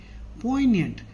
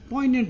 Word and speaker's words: poignant: and sad and lonely poignant here the g is silent poignant again a very important